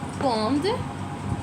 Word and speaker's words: quand: Quand. It is not quand. q u a n d, quand.